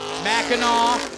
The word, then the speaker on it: Mackinac: you can say Sheboygan Mackinaw maybe you can spell Mackinaw correctly depending on where your location is Mackinac there you go or blah Blanc Island